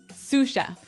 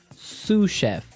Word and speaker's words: sous chef: Um that brings us to our second word, sous chef. Sous chef. Sous chef. Sous chef. S O U S. So, the S is silent because it's like a French word.